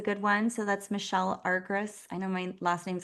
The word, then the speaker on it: Argyris: to say, so it's Argyris. I think it's the Y that gets because Uh-huh. it's really Argyris if we were going to pronounce it correctly. Yeah, Argyris.